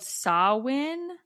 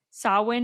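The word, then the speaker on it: Samhain: coincided with a Celtic festival called Sawin. Sawin is spelled S A M H A I N.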